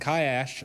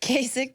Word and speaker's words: Kasich: And Kaash, I think I pronounced his name correctly. Kasich. Kasich. Kasich. Yeah.